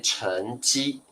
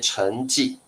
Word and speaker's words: 成绩: 成绩，好，那我们在台湾会念成绩，成绩念法有一点不一样在中国会念成绩，成绩。